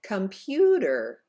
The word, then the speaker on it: computer: good in the next word computer the second syllable is held out longer for a count of two because it is the stressed syllable let's try that